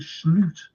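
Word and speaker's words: Slot: competition do you think slute that's how your pronouncers name by the way slute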